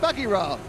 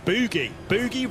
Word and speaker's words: Buggyra: you pronounce the team well we spoke only at kolach and she said uh and he said buggyra but you've turned it into boogie boogie wrong well it's got more